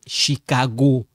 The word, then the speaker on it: Chicago: Amy est de Chicago. Chicago. This one sound like K. Sound like K. Okay?